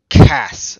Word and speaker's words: Ochus: was not his name okes was his actual name and it can be pronounced Cass essentially and that sounds a lot like chaos and I don't think